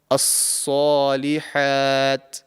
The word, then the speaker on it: الصالحات: So this would be the correct pronunciation, and this letter has the same articulation point as the letter Sin, which is why there could be some sort of confusion when you're pronouncing this letter. But the top of the tongue is raised to the roof of the mouth to make it a heavy and thick sounding letter.